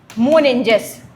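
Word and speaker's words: meninges: तो, यह जो मेंजस है, इसका जो राइट नाम है, वह क्या है? मोनेंजस। यह इसका थोड़ा सा प्रोनाउंसिएशन थोड़ा सा कठिन होता है। तो याद रखिएगा मोनेंजिस इसकी भी तीन परतें होती हैं।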